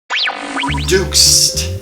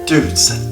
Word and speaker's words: DOUXD: dudes dudes that's how it's pronounced what's going on you